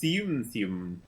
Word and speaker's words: Tsum Tsum: It's pronounced Tsum Tsum.